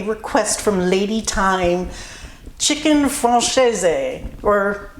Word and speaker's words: Francese: Today I'm honoring a request from lady time chicken franches or actually there's two pronunciations. French is chicken fron and Italian is chicken franchise and I kind of did a mix of the two.